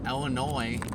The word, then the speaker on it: Illinois: And yeah, I'm sure you guys saw the last clip back from Marian Illinois. What's silent in Illinois? There's a silent s at the end.